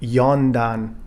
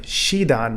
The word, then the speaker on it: yondan: is also red shi so you find the rank of fourth degree black belt for example yondan instead of shidan which would mean for example the death rank or the dead rank so there are some